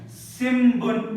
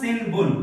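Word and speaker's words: 新聞: It is called like from the nose, nasal sound, so ma sound. Simbun, it is not sinbun.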